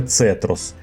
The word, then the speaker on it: Zetros: найсуровіших умов нашої планети і так саме цетрос Бо у німецькі літера З читається як звук ц я вже робив велике